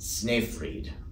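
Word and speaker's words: Snöfrid: past September was his choral Masterpiece and poem pronounced sniff freed opus 29.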